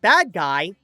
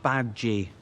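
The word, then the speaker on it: Badguy: have signed on with their new manager Dominic bad guyy it's pronounced bad G it's French to go on an international tour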